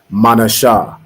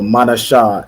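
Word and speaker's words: מנשה: Isaiah nice and loud manha right excellent so manha is manessa in the Hebrew which means made to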